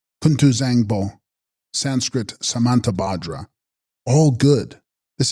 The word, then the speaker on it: Kuntu Zangpo: And text: Kuntu Bzyangpo, pronounced Kuntu Zangpo, Sanskrit Samantabhadra, all good.